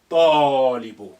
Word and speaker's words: الطالب: Ta is sun letter, and that's why the lam has become quiet. Alif is quiet, is silent because it's not at the beginning. Therefore, we need to link the a to the first to, which is hiding here, carrying sukun.